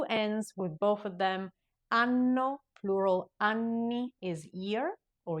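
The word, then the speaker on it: anno: Those are the words ano and two ends with both of them. Ano plural ani is year or years.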